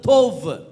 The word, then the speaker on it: தோவ்: அந்த நல்லவன் அப்படின்ற வார்த்தை, குட் அப்படின்றதுக்கான வார்த்தை வந்து தோவ். ப்ரொனவுன்ஸ் பண்ணும்போது வா அப்படின்னு ப்ரொனவுன்ஸ் பண்ணு, தோவ்.